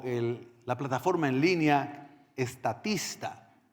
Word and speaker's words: Statista: la plataforma en línea estatista. Estatista, sí se escribe y se pronuncia.